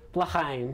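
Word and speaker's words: L'chaim: I'm gonna try not to butcher the name of the song. I think it's Lechaim? Lechaim? Lechaim.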